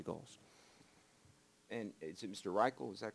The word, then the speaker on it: Reichel: Reichel, is that correct, the pronunciation?